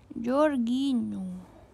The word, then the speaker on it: Jorginho: jorginho jgin benar kan Ya jorginho cara bacanya jorgino jorginho Translate from no